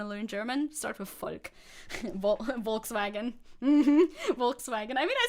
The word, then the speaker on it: Volk: can you stop pronouncing Volk the way that you do? I've said it in chat multiple times. The V is pronounced like an F. It's not pronounced like a W. Don't say Volk.